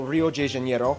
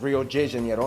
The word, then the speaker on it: Rio de Janeiro: from the old capital rio de janeiro that's right it's pronounced rio de janeiro not rio de janeiro get it right we're not in mexico this is portuguese we did that wrong